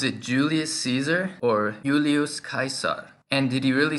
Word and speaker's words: Caesar: words into other languages how do we know this word Caesar was pronounced kaisar with a hard C and not Caesar like we say in English one source of evidence